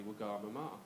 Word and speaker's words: Wagamama: you really want to impress her, you should pronounce it the correct way, which is actually Wagamama.